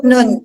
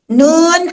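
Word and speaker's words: ن: nun di surah al-qalam Nun ada di surah al-qalam Bagaimana cara bacanya Apakah kita baca n salah teman-teman salah ya salah besar jadi bagaimana cara bacanya nya kita bunyikan nama asli huruf nun huruf nun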